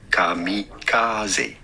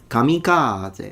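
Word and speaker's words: 神風: How do you go about pronouncing it in Japanese? Kamikaze.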